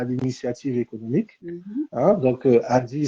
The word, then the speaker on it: ADIE: Hein, donc, ADI, ça s'écrit A-D-I-E.